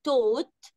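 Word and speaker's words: taught: الماضي بتاعه والبيبي بتاعه ونخلي بالنا ان في التلات تصريفات الدبليو ما بتتنطقش يعني يدرس او يعلم الماضي بتاعه توت توت الجيما بتتنطقش نقولها سوا توت توت برافو عليكم والبيبي بتاعه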